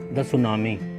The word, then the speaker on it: tsunami: में और छोटी-छोटी कहानियां सुनामी सुनामी बैकुंठ वर्ड है और यह पति से शुरू होता है लेकिन एस्से पढ़ा जाता है ठेर इमेंस साइलेंट इन